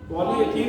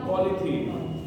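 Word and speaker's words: polythene: जल्दी में क्या पढ़ोगे, पॉलीथीन, पॉलीएथीन तो नहीं है लेकिन ई साइलेंट बोल देते हैं, पॉलीथीन, ठीक है।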